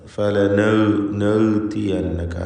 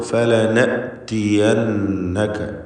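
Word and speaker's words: فَلَنَأْتِيَنَّكَ: ഫലനഅതിയന്നക ഈ പദത്തിലെ ഹംസയുടെ ഉച്ചാരണമാണ് പലപ്പോഴും ആളുകൾ അബദ്ധത്തിൽ തെറ്റായി ഉച്ചരിക്കാറുള്ളത്. ഫലനഅതിയന്നക അങ്ങനെ പറയരുത്. ഹംസക്ക് ഷിദ്ദ എന്ന ഒരു സിഫത്തുണ്ട്. ഹുറൂഫ് ഷിദ്ദയിൽപ്പെട്ടതാണ് ഹംസ. അപ്പോൾ ഫലനഅതിയന്നക എന്ന് വ്യക്തമാക്കി ഉച്ചരിക്കണം. ഈ പദത്തിൽ വന്ന നൂൻ മുഷദ്ദദ, ഷദ്ദ് നൽകപ്പെട്ട നൂനിനെ മണിക്കണം.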